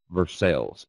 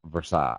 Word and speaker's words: Versailles: is kind of weird, where I live is pronounced, if you're from the local area, they say Versailles. Everywhere else in the world, it's pronounced Versailles. I don't know why, but I guess that's just how rednecks do things in Kentucky.